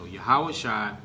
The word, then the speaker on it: Yahushua: So Yahushua is the Hebrew pronunciation of the Messiah, whom the world calls Jesus.